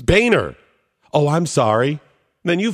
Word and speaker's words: Boehner: great one I mean isn't that really boner but at least it's oh no it's Boehner excellent point I don't know if it was originally pronounced boner or not maybe a hundred years ago maybe 10 years ago but at this point it's Boehner and if somebody screws it up and says boner it's on them right